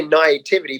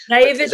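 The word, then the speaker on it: naïveté: I always say naivety, but it's actually hang on, I got this. Naivety. There we go. Thank you. Naivete. Right? It's a French word.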